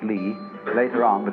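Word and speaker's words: 理: talk to you about another meaning of a word pronounced li later on but it's quite a different word li is justice but you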